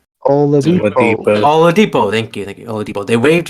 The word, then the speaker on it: Oladipo: Oladipo.